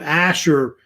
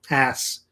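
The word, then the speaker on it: Ashur: I think that's what gives it the translation I guess of the name kind of means and it's usually pronounced with a sha sound not ass but asher it's how they usually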